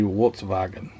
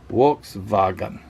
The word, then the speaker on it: Volkswagen: Yeah, actually, if you pronounced it in German, I think it would be the V's are W and the W's are V, so it'd be Volkswagen.